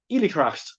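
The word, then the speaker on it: oilithreacht: in my mind here but it's illiteract is how you say forgive my irish literally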